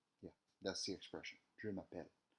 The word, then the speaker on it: je m'appelle: So the expression for my name is in French is je m'appelle.